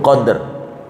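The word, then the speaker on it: قدر: Kalau dibaca qafnya fathah, dalnya mati. Mati itu sukun, qadr.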